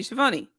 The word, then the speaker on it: Schiavone: And not just in backstage interviews with Tony Schiavone. Oh my God, do you have the video? Tony Schiavone. Oh yeah, Tony Schiavone was talking a lot of Hey everybody, it's Tony Schiavone of All Elite Wrestling, and this is True